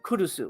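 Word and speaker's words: Curucu: strange feature app but it's not talking about kurusu which is which is how you pronounce the movie kurusu because it's about the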